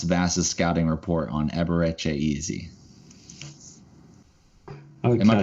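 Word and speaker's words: Eze: He wants Vass's scouting report on Eberechi Easy. Okay, am I pronouncing that wrong?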